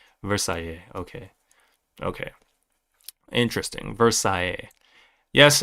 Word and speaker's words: Versailles: So, French here, so it's pronounced Versailles. Versailles.